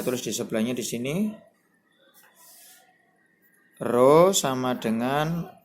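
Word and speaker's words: ρ: Membacanya rho.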